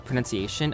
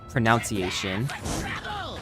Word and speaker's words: pronunciation: that the word uh pronunciation I used to pronounce it as pronunciation and it took me forever to realize that there wasn't an o in that word or in the spelling of that word these guys now that